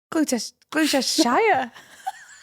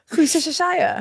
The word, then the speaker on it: Gloucestershire: Gloucestershire. Gloucestershire. It's like Worcestershire.